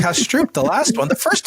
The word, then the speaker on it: Kastrup: No, that's another book that's pronounced cash Stroop.